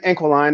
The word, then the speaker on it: Inquiline: So my brand, Inquiline, that's how you say it, is an Inquiline.